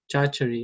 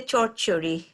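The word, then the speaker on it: চচ্চড়ি: Chachari, yeah? Is that how you say it? Well, in Bengali we say chorchuri. So Chorchuri. Yeah, so the R sounds takes an O-ish sound.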